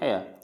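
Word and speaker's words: heir: फिर एयर, यानी ये होता है जो किंग, यानी जो सिंहासन होते हैं उनके पास, उसको बोलते हैं हेयर।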